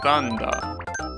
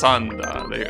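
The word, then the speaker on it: サンダー: Thunder in Japanese is Thanda. Well, actually it's Sanda. They will pronounce it like that.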